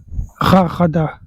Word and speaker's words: Rajada: Kala rarada, ça s'écrit rajada mais je pense qu'on prononce rarada.